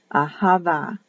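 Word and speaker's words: אהבה: h ahava for love ahava is the pronunciation that'll be written with a b but pronounced as a v that's the tricky one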